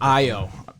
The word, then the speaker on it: Ayo: Ayo.